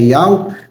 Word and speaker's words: Yahweh: Se você ainda não conhecia o nome do Criador verdadeiro, Yud-He-Vav-He, que a sua pronúncia é Yahweh, passe a conhecer, passe a pesquisar.